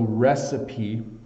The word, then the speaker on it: recipe: 1/2 cups flour so recipe is a little bit challenging to pronounce because in English we don't often have words that end with a consonant in a vowel where we accent or pronounce the vowel so uh a recipe